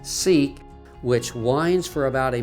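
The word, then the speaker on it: Siq: access is via a narrow crevice called the sick or pronounced seik which winds for about a mile through the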